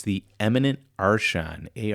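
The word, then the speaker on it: archon: He's It's the eminent Arshan. A R C H O N. I can't hear him pronounce that.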